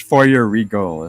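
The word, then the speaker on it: Feuerriegel: It's Foyer Regal. Foyer is like fire. Thank you very much. Like Foyer, like fireman, something like that.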